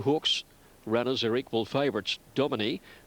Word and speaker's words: Domini: Domini, which I'm told is the correct pronunciation, has been a big drifter and there's been good support.